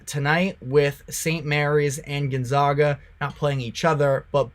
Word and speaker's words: Gonzaga: Gonzaga I got um I got some negativity based off of the way that I pronounce their name it's Gonzaga but they should be